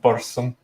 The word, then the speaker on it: Burzum: reference as well he created his own he Burzum oh it's pronounced barson he he how many use does that have